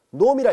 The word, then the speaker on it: norm: 이 분할에 이렇게 줄을 두 줄 그어서 이것을 읽을 때 놈이라 읽습니다. 자, 이제 이것을 우리는 분할 폐관 AB의 분할은 무수히 많다라고 얘기를 했었죠. 그 중에 한 분할 P의 놈이라 읽습니다. 놈은 이제 우리말로 이제 크기라고 번역해서 사용하려고 합니다.